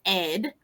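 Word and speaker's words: AIDES: On the French side, we have an organization called ed, which is spelled like AIDS, but it's ed means help in French.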